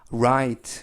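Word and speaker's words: right: 알은 름 아이는 아이 그리고 쥐 h 는 발음하지 않습니다 이번 단어 에서는 묵음 즉 발음하지 않고 요 알파 베티는 트 그래서 vite vite 라이트 보다는 r 발음에 유의 하셔서 lite 라고 발음하는 편이 낫겠습니다 와이트 라고 발음합니다 뜻은 오른쪽 이라는 뜻이구요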